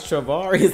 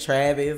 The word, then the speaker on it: Travaris: Bruh, someone finally pronounced my name right. Y'all really no. It's Travaris. I mean, like, if you just look at it, I mean, Yeah, that it ain't Travis or whatever nobody else trying to say.